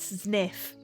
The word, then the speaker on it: Zniw: stuff unknown undiscovered dinosaur sniff is that how you pronounce it hang on if we go to oh my God it's pronounced sniff Das pleatosaurus I'm so